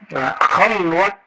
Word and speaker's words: khalwat: Khalwat dar anjuman, bukan khalwah, ya.